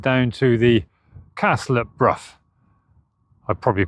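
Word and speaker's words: Brough: And here is Bruff Castle. And I can confirm, having just spoken to a local, that it is pronounced Bruff.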